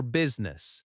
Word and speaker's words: business: The stress is on the first syllable. I'm here for business.